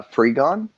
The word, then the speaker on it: Frigon: woman who plays lynn miranda how do you pronounce her last name uh free gone okay i wasn't sure if it was frijon